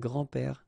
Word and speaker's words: grands-pères: you think about that, you don't pronounce this S, so actually phonetically it's the same grand-père here and grand-père here.